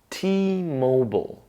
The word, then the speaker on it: T-Mobile: Then we move on to Mo, like Mozart. And we finish up with bull. So it's technically a consonant cluster, bull. We put it together and we get mobile. T-Mobile.